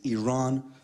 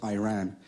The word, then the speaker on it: Iran: the Iranian people but you're pronouncing a country's name wrong our country is named Iran not Iran please once and for